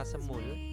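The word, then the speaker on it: 스무: Han Se ne ya kalau sama 20 itu se semu kalau 21 Ya semulan tulisannya ya jadi hannya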